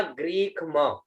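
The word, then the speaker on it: ग्रीष्म: फिर शब्द आता है, ये ग में र की मात्रा है, ग्री हो गया, आधा ख और म, उच्चारण हुआ ग्रीक म, ठीक है ना, उच्चारण हुआ ग्रीक म, ठीक है।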